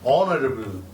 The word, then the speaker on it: honorable: Even today in English, honorable, it is not honorable. A sound is dropped.